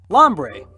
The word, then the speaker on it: Lombre: yeah it's bug skin lombre let's see rhymes with hombre probably coincidence his head